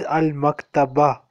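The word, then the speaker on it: المكتبة: Oh, that is Al-Maktaba. There is a ta marbuta at the end.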